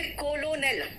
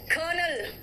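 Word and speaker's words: colonel: कर्नल बोलते हैं कर्नल, आर है ही नहीं। अगर आप स्पेलिंग के हिसाब से जाओगे तो कहोगे कोलोनेल, है ना? स्पेलिंग के हिसाब से क्या है? कोलोनेल, ठीक है?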